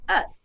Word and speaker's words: œuf: And so without the L, it's pronounced œuf, which means that it has also same derivative of the word ovary.